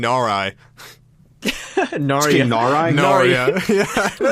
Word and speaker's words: Narai: Oh my god, I've been mispronouncing it this whole time. It's King Narai.